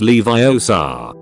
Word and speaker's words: Leviosa: Vader kamak Kamika shut up Goten leioa it's Leviosa not leioa Darth Vader in the French dub